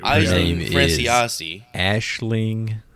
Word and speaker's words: Aisling: Ashling Franchosi. Are you gonna... As soon as I say her name anytime during this thing, just say it right behind me. I'm gonna correct you. Ashling Franchosi.